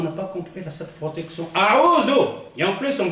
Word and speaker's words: أعوذ: Il y a des gens qui disent, par exemple, surtout les Marocains. Les Marocains, ils n'ont pas de zel. Ils ont del.